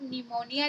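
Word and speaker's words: pneumonia: P silent होता है, यानी कि कभी भी आप निमोनिया लिखें या शाम या साइकोलॉजी कभी भी पढ़ें तो हमेशा पी को ना पढ़ें। तो ये 3 ऐसी वर्ड मीनिंग है जहां पर आपको पी को नहीं पढ़ना है।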